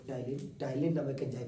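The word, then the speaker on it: ptyalin: ये जनरल उसका है टाइलिन और टाइलिन में पीस साइलेंट होता है पी टी वाई ए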